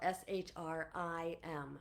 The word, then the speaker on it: Shrim: So it's sometimes it's spelled shr sometimes it's spelled shr i m.